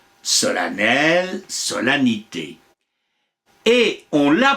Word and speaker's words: solennel: même en certaines province depuis on l'a prononcé avec un a en faisant sonner l'EM et enfin on a supprimer tout à fait la prononciation de cette m après tout agripine disait